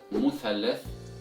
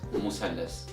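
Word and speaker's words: مثلث: However, in Egyptian Arabic dialect, this word is pronounced as musallas, musallas with the S sound instead of Th sound. So it's musallas instead of muthallas.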